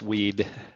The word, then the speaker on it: Wehde: is and he's um I hope I pronounced that correctly it's weed weed yes weed I pronounced it the Arabic